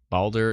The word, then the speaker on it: Baldur: for that appreciate it balder is pronounced like the Norse god balder that doesn't help me